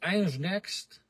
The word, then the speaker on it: Ingenext: On dit Ingenext ou Ingenext? Ingenext.